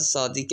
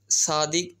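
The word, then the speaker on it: صادق: वह है सरदार अयाज सादिक है यहां पे सादिक यह सदीक भी बनता है सादिक भी बनता है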